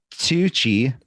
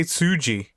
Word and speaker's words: Tsuji: we're having about this gabriel kid versus yota tsuji okay go ahead no uh it was actually yota sushi yota okay hold on i want you to hear me yota tucci nope sushi i didn't what sushi say it